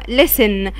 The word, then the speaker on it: listen: listen يعني يستمع للموسيقى او يستمع listen. وقلنا عندي T silent مش بتتنطق. listen.